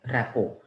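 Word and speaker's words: rapport: आई वास teaching you I told you that R ए पी पी ओ आर टी टी यहां पे silent है build रेपो ठीक है टी साइलेंट आप देख चुके होंगे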